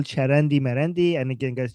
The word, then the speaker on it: Marandi: that we call Charandi Marandi. And again, guys, Charandi means like nonsense in Persian, which rhymes with his name Marandi.